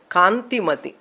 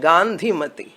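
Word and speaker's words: Kantimati: kanti mati it is the name is kanti mati unfortunately in tamil nadu the pronunciation they do not know all letters are same and one letter i saw online class like that gandhimati i was surprised what is this name later i explained her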